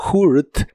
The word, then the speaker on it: hurt: de inglés es hurt se pronuncia como hurt pero con tu lengua lo más atrás que puedas y debe sonar como monstruo hurt hurt en el